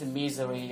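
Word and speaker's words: Missouri: so it's Arkansas and this one has become Z so it's misery or mis but it must be a z sound right so when you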